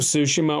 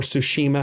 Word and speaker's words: Tsushima: all of them uh ghost of sushima or tsushima however you want to pronounce it is so good